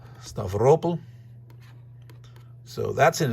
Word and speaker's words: Stavropol: They're probably saying, yeah, driving down there without having opened up Stavropol. It's probably pronounced Stavropol, sorry, just like Sevastopol, not Sevastopol, Sevastopol, Stavropol.